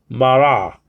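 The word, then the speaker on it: בָּרָא: a word and sorry you pronounce it by putting the tongue against the roof the back part of the roof of your mouth okay and so BA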